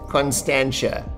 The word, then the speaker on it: Constantia: just have my dad come on here and pronounce it Constantia thanks Dad but this Winery is one of